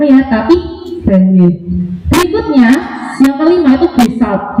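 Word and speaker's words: Gagné: Bacanya bukan Ganya ya, tapi Ganya.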